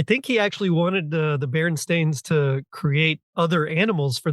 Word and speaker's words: Berenstain: stain Bears which yes I now have to consciously say it like that because we all just collectively misread their name growing up and called them Bernstein nope that's wrong y um the same